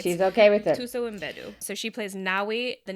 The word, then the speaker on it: Mbedu: There's Viola Davis as Naniska, and then there's Nawi is played by Tuso Mbedu. So they pronounce the M, okay.